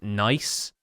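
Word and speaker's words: gneiss: it is actually pronounced nice. Nice. It's a joke amongst geologists at this point that it's obviously a lot of extra letters to the 4-letter word nice, but it is absolutely pronounced that way.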